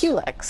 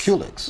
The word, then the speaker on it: Culex: How do you pronounce it? Culex? Culex. Culex.